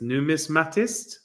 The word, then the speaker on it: numismatist: how do you say that oh my goodness numis matist yeah coin coins yes I don't I know